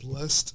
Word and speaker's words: BLXST: Blessed is really dope. It's spelled BLXST with a period at the end.